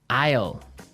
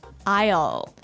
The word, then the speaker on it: aisle: our second word now Isle Isle a i s l e Isle Isle it's a tricky word it sounds like the contraction of will yeah but it's spelled so strangely right we don't pronounce the S the S is